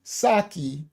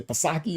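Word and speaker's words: Psaki: It's pronounced Saki. Thank you. What did I say? Pasaki or something.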